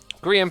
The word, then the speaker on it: Grian: Grian pronounced Brian, but with...